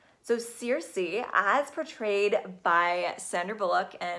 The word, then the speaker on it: Circe: So the energy of this week, and this goddess has a name that's pronounced a variety of ways, so you may hear me say it several different ways during this video, but the best that I can come up with is Circe.